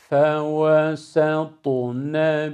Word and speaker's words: فوسطن: Burada telaffuz ederken ta harfinin kalınlığından etkilenmemek icap ediyor. Etkilenirsek sin harfi kalınlaşır, sat olur. Halbuki sat harfi değil o, sin harfi. Fe ve se, satu, sat şeklinde ta'dan etkilenerek sat haline gelmeyecek, sin olduğuna dikkat edilecek.